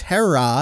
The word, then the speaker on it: Hera: we break this down so it's hera and that's an elongated uh ah sound at the end there uh and then ichizoku